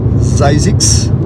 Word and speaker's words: Zzyzx: Enfin, on la prononce Zajsix.